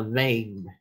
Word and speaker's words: vein: Đọc là vein chứ không phải đọc là ven ha, không phải là ven, đọc là vein.